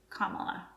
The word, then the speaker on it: Kamala: And make sure to pronounce it correctly. Kamala.